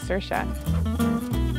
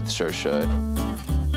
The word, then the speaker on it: Saoirse: Personally, I say Saoirse. It's Saoirse. Look, it's just Saoirse. Dad's been outside telling everyone it's Saoirse.